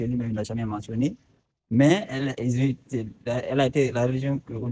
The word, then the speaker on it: El: El, ou appelé Al, c'est ça qui a donné Allah. C'est le même nom. Normalement, c'est prononcé El. El. El.